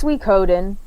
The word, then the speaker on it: Suikoden: What's the right pronunciation for that? It's Suikoden. Suikoden.